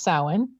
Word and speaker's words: Samhain: so anything that's still in the field after samhain um it's spelled like samhain but it's pronounced samhain uh anything left in the field after this